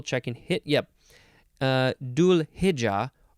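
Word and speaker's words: Dhu'l-Hijja: and hit yep uh dual hija or hija with a D sound or a th sound dual maybe it's maybe it's more intense th yeah it's like a hija okay this is spelled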